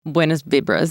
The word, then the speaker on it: buenas vibras: Buenas vibras. Yes, thank you. Buenas vibras. Okay. I just want to make sure everyone knows I know how to pronounce that. Sure. Buenas vibras. Okay. Buenos vibras.